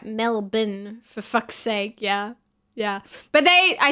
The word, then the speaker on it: Melbourne: I don't think it's a dox to say that I'm an East Melbourne girl.